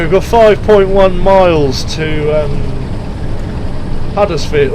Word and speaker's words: Huddersfield: So anyway, we've got 5.1 miles to Huddersfield, or Uddersfield as the locals would pronounce it.